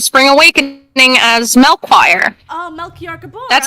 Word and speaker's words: Melchior: Oh, Melchior Gabor. That's how you pronounce it, right?